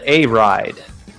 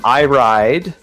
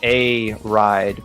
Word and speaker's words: Iride: versus uh I believe this is called a ride is how that is pronounced we asked the team for a clarification if it was I ride um but they said it was a ride but they weren't sure